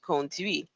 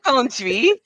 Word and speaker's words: conduis: Je conduis. And she had a hard time saying je conduis. And I understand there's like T's and the silent letters.